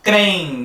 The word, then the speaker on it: creem: A gente tem aqui, dá maior tentação, achando que seria ditongo, creem, se a gente conseguisse pronunciar isso tudo junto. Mas na verdade são sílabas diferentes.